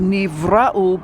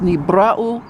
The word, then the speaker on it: Nibiru: with maybe rule is actually should be pronounced Nibiru Nibiru is pronounced in modern Hebrew as Neve Rahul but the truth the matter is is that it's knee brow which means that which is created it is